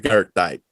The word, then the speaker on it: Goethite: world's finest, is the Gertite. Goethite. Everybody pronounces it differently. I tried to get Christoph Keilmann to correct me on it. So, but it's after the German philosopher Goethe. So Gertite or Gertite.